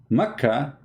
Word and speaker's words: Makkah: do you see it makkah became bakka makka became baka but how that can be you cannot change the name the answer is very simple becca is how it is pronounced for some people makkah it's how it's